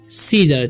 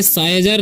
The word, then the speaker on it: scissors: ठीक है, first word है, इसे हम पढ़ते हैं सीजर। ठीक है, इसे साइजर नहीं पढ़ना है या सिसार नहीं पढ़ना है। ठीक है, तो सी का उच्चारण सही होगा। ठीक है, और इसका हो जाएगा ज और एयर का और हो जाएगा तो सीजर पढ़ेंगे।